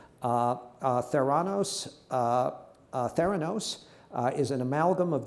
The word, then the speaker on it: Theranos: Holmes uh is founder and CEO of uh Theos am I pronouncing that correctly you are uh which she